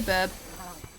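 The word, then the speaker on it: birb: I said burb. B-I-R-B. Burb. That's the correct pronunciation.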